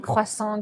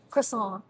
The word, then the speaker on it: croissant: take the time to make good bread, good croissant, good pain au chocolat. And so it's alive in the good way. Croissant.